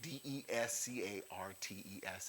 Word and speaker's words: Descartes: probably seen his name de SC AR te s is the way he spells his name though those French and their silent letters rene descartes now he